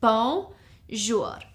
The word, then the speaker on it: bonjour: It's 2 syllables, bonjour.